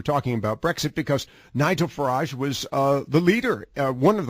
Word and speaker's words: Farage: Am I pronouncing his last name correct? Nigel Farage. Yes. Farage.